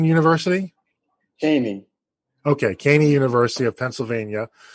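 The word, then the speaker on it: Cheyney: Gary himself is a graduate of, Gary, you have to help me pronounce this. It's Shane University? Caney.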